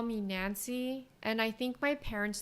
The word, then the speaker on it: Nanse: saying my name because it's Nancy, which sounds like Nancy. And there was like a really famous uh, folklore about a spider called a Nancy. So, they used to call me Nancy.